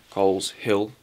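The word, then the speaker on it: Coleshill: Hill coal coal cyl you from Birmingham you pronounced at Kostal that's coal hill coles hill coles hill it's a pretty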